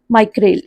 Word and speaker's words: Micral: जो भी है इसकी प्रोनाउंसिएशन जो है वो बड़ी अजीब सी है. माइक्रेल, इसका जो यहाँ पे आप याद रखिए, यहाँ पे स्पेल मिस्टेक हो गया.